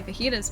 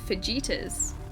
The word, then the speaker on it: fajitas: So, unless you've heard someone say fajitas before phonetically, it looks like it should be pronounced fittas.